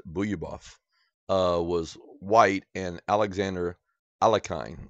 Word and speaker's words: Bogoljubov: A lot of people say Bogoljubov, but I believe you pronounce it Buyabov.